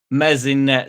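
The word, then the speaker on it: Meslier: here we go so mzet silent s Byrum furo rodon Cooper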